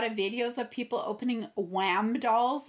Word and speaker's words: WAMDOLL: videos of people opening Wham dolls. It's spelled W-A-M, Wham doll.